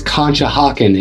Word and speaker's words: Conshohocken: So the next town that I have to tell you about is Conshohocken, and yes, that's how you pronounce it, or Conchi for short.